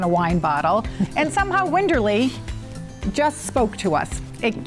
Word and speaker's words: Winderlea: morris sweat on a wine bottle and somehow winterly just spoke to us it keeps us close to our east coast roots and we think it's a pretty word although many people mispronounce it it's winderly yes in our former careers we're given the